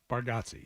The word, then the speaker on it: Bargatze: Bargatze, yes. Bargatze. And I'm a fan of his, so I should know how to pronounce it.